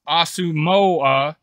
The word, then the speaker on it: Asamoah: Asamoah, pronounced Asamoah, family came to the United States from Ghana in 2000 and eventually settled in Columbus, Ohio.